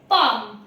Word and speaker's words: palm: Again अगर एम के पहले भी एल आए तो वो साइलेंट माना जाता है। जस्ट लाइक CALM काम, इसे काम नहीं पढ़ते हम। BALM बाल्म नहीं बाम, PALM पाम। तो एम के पहले देखिए एल है, इसीलिए ये साइलेंट हो गया है।